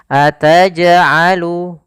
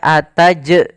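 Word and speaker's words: أَتَجْعَلُ: Nah maka di sini ataj'alu ataj'alu tapi tidak ataj tidak sampai ada tambahan huruf hamzah Maka jangan sampai teman teman-teman membacanya dengan ataj ataj tapi dia langsung saja ataj'alu ya ataj'alu tidak ada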